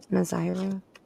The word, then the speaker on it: Nazira: Is it Nazira? Am I saying it correctly? Nazira? They keep trying to twist on me tonight. Yes. Okay, thank you. You're saying it right.